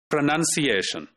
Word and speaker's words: pronunciation: So the second last, which is technically called penultimate syllable, that is stressed, and you see that the stressed mark is put there.